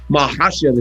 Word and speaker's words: Makhachev: Makhachev is how you say it.